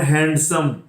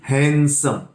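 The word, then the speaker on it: handsome: This is नॉट हैंडसम, this is हैंडसम. This deed silent here.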